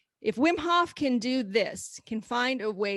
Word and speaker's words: Wim Hof: Wim Hof. W-I-M, Wim. Wim Hof.